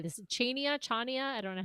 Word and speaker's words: Chania: All right, here you are in, I don't know how to say this, Chania? I don't know how to say it. Chania. Okay. Chania. No C. No C. Hania, Sam. Hania.